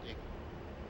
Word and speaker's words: EGI: The primary navigation system of the A-10C is the embedded GPS INS, or EGI, often pronounced IGI.